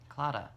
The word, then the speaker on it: claddagh: she gave me this claddagh ring claddagh it's pronounced like it's about like clawed off like with a GH on the end but it's apparently silent